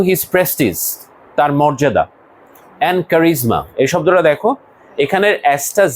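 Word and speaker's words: charisma: এন্ড কারিজমা। এই শব্দটা দেখো। এখানের এসটা জটের মত উচ্চারণ হবে।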